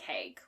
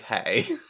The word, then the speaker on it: Hay: me to me it I feel like it's hey like hey hey girl hi yeah it is hey whatever John hey I've